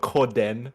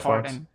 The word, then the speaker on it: Corden: It's not Corden. That's way too fancy. It's like It is- that's like a French enunciation. No, his name is Corden.